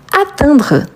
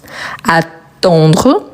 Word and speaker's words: atteindre: Ensuite, on a atteindre. Donc remarquez bien la différence. Attendre. Attendre. Attend. Donc il y a une différence de prononciation, n'est-ce pas ?